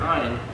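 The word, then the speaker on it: אין: nothing in in english the easy way to remember it ein you add a t i ain't got enough ain't means you don't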